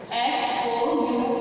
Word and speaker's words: hour: H is silent here.